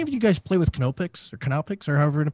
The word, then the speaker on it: Knoppix: Did any of you guys play with Canopix or however you pronounced it? Yeah, Knoppix.